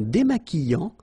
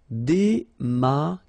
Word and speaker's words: démaquillant: So we've got this QU, but then U is not pronounced. So you get the sound qui. Okay, and then remember, double L after E will give you the sound y. Démaquillant. Final T not pronounced. Démaquillant. Okay, and this is nasal in your nose.